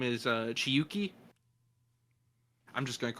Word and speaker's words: Chiyuki: were absolutely right it's chiyuki i know i wrote it down and it is it's nice because it is actually a japanese name that is spelled the way it sounds chi c h i